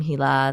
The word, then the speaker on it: Hila: start representing myself as in the pronunciation of my name, Hila, that is more, connected to my roots and origin.